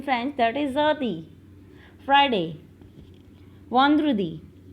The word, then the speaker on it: vendredi: Yes, pronunciation of en is on. On. On. Yes. Vendredi.